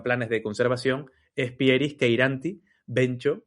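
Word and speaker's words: cheiranthi: En este caso, la especie que se extinguió en Tenerife es Pieris queiranti, que yo digo queiranti, pero se escribe cheiranci con TH, queiranti, que es la subespecie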